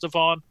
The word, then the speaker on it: DVONN: Devon and side note we think it's pronounced Devon we're not 100% sure